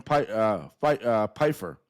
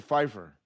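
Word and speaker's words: Pifer: Stephen, I believe his name is pronounced Stephen Pfeiffer.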